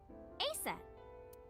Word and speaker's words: Aset: How about Aset? Horus's mom is named Isis, but in ancient Egyptian it's pronounced closer to Iset or Aset.